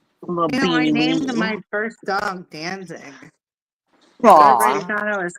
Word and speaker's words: Danzig: Danzig. I will spell it in the chat. Let me spell it in the chat because it sounds like dancing, but Danzig.